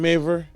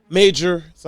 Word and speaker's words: Majors: I remember when I really started looking into Jonathan Major, that's when he dropped Major, so I can say it right.